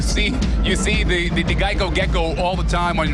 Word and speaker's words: Geico: and did you know the company's name Geico was often mispronounced Gekko and that's how the